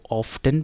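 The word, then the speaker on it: often: तो ब्रिटिश में इसको ऑफ्टन पढ़ते हैं और अमेरिकन में इसको ऑफन पढ़ते हैं, ऑफन, ठीक है। लेकिन मोस्ट कॉमन जो है वो कॉमनली जो यूजुअल प्रोनाउंसिएशन इसकी जो है वो है ऑफन, सो यू कैन go with that.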